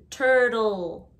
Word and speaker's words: turtle: the g jaguar turtle the second t is like a d turtle turtle we don't say